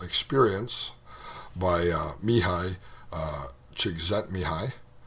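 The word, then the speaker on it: Csikszentmihalyi: by uh Mii uh Chet mihi that's how you actually say that name in case you're wondering how do you pronounce that it's a Hungarian name and uh I speak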